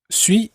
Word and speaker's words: suis: this je suis part josue means i am sui is spelt s-u-i-s french has many letters which end